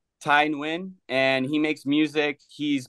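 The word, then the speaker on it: Tai Nguyen: just his name so it's spelled t a i n g u Yen Ty win and he makes music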